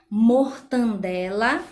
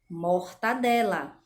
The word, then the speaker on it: mortadela: pela boca e aí a gente pronuncia mortandela e a pronúncia correta seria mortadela tá então esse é